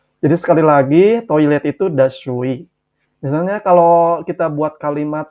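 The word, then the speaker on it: دستشویی: Toilet bahasa Persianya adalah das shu'i. Dibacanya dashui, dashui.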